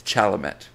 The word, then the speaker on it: Chalamet: whatever and be ideal Timothy chalam sh it's chalamet you swine I've never I've